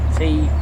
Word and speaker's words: Tyrley: It's spelt T-Y-R-L-E-Y, but it's pronounced Tyrley.